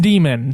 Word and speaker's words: daemon: It's just an old spelling of demon and it's pronounced demon.